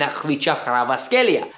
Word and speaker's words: Kvaratskhelia: Chelsea are actively looking atasia yes that is the way you pronounce it coming from a Georgian man that was born in bissi that lived there till the age of five I know how to pronounce that name so learn it and